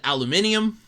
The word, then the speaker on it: aluminium: do like the way he pronounces uh aluminum he calls it aluminium which is which is really cool for starters i know it's just a uk thing but still that's really